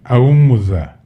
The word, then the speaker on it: Aumuza: Don't worry about the pronunciation. But it's Aumuza, and 5 children, as indicated below.